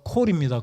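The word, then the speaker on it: קול: 히브리 발음으로 콜입니다. 콜. 영어 C 부른다는 그 콜이 아니라 히브리어 알파벳 발음으로 콜입니다.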